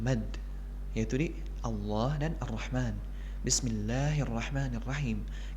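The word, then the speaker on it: بسم الله الرحمن الرحيم: Allah dan ar-rahman Bismillahirrohmanirrohim kita harus membacanya sepanjang dua hakekat itu mag fabiai yang sampai kita membaca ban tersebut lebih dari dua harakat karena sering kita dapati juga Hai sebagian orang membaca medium harusnya dua harokat malah lebih dari itu Bismillahirrohmanirrohim dan ini kurang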